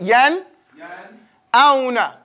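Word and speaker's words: يَنْأَوْنَ: You make sure you pronounce that noon.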